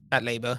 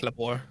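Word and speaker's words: Patlabor: Um, is that how it's pronounced? Pat Lab. Pat Labour. Yeah. Okay. Well, control labors. Okay. Yeah. Well, I'm not It's not It's not patore.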